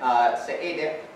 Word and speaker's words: Seediq: What sound is the Q? Is it a qu in English? No. What does Q mean in the International Phonetic Alphabet, if anyone? I'll demonstrate again. Seediq, you have to open your mouth wide and make a kind of K or G sound. But it's not made in the same place that a K or G sound is made. It's made with your uvula.